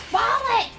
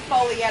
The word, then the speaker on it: Follett: I was like, it's not Foleyette, it's Follett! And he kept saying Foleyette on purpose.